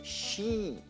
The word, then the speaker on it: sheet: di carta in inglese si si dice She è lungo e e sheit piuttosto fallo troppo lungo ma non troppo corto perché se tu